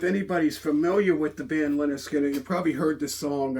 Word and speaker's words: Lynyrd Skynyrd: Um, so if anybody's familiar with the band Leonard Skinner, you probably heard the song uh Freeird, which came off their very first album pronounced Leonard Skannard.